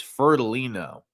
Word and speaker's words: Fiordilino: I said, to be honest with you, when Frank says his name, I don't think he even pronounces the I. He says Fiordilino. Almost like Fiordilino. That's how it sounds when you say it.